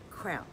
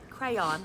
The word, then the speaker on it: crayon: in themselves on this this is a crown i get crayon i i see it i know how it's spelled but it's a crown when you're kid you play with crowns crowns this is a crayon two syllables okay this is an